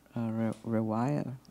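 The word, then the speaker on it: رواية: Like the first one, riwaya.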